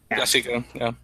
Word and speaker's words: Lasike: Is that how you pronounce it, Lasike? Lasike, Paul Lasike.